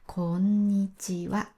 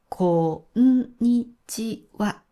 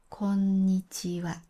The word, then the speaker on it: こんにちは: しっかりの長さを出してこんにちはと言います。ピッチクセントは、え、こんにちはとも言えますが、普通は全部フラットでこんにちはと言います。